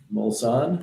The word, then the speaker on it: Mulsanne: All right, so we are on the back on the Moselene. Is that how you say it? Moselene? Mulsanne?